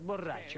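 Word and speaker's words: Bo' Rai Cho: Если произносить слитно, будет Бо Рэй Чо.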